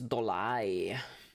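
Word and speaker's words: Dollet: Hey, it rhymes with Dornov. Does it? It's Dolai.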